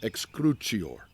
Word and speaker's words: excrucior: Et excrucior. Or in the ecclesiastical pronunciation, excrucior.